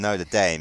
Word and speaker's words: Notre Dame: Well, also, I didn't burn down Notre Dame.